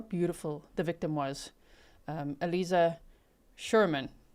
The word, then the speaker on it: Aliza: Um, Alisa Sherman. I'm tempted to say Eliza, but I got to pronounce her name correctly. Alisa Sherman is her name.